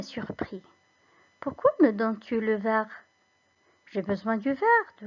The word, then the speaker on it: verre: Pourquoi me donnes-tu le verre? J'ai besoin du verre, de la couleur verte, si tu préfères. Alors, pourquoi Hiba s'est trompé? Tout simplement parce que les deux mots se prononcent de la même façon.